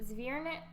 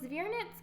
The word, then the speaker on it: Zwernitz: So we ended up going to Zwernitz, I believe is how you say it, castle, and the Sanspariel rock gardens.